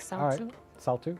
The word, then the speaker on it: Saltu: pronunciation of the name I think you're pronouncing it correctly like Sal too okay cool wonderful just